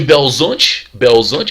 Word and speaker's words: Belo Horizonte: tem uma carreira política meteórica, de prefeito de Belo Horizonte, que é o jeito certo de falar, de prefeito de Belo Horizonte ele se torna governador, de governador se torna presidente.